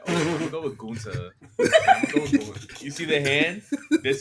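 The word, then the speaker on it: Gunther: Is Gunta how you say? I'm saying it. I'm putting the emphasis on the ta and Gunta.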